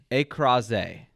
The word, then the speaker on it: écrasé: It's spelled just like it sounds in French.